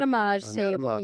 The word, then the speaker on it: Anatomage: So now we're going to transition to this device that's over to my side, this Anatomage. Am I pronouncing it? Anatomage.